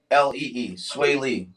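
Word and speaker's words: Swae Lee: rapper yeah okay uh it's spelled s-w-a-e-l-e-e sway lee um anyway apparently when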